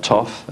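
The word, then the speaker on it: Thoth: The Emerald Tablets of uh Toof some people call him although tah is a much more correct pronunciation he also mentions that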